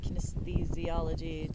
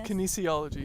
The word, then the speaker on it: kinesiology: and he did kinesthesiology testing. Kinesthesiology. It's kinesiology. Kinesiology.